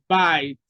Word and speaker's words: bite: bytes you have b-i-t-e the E after T is silent it's not pronounced and because of that the vowel uh that actually comes before it is long that's why we have bites other examples are might